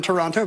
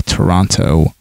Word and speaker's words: Toronto: also i'm really sorry i have to point out ken's mispronunciation in toronto he added an extra t two times he said it uh